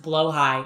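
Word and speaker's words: Blåhaj: Um um it's pronounced blow high. I'm going to pronounce it blahaj.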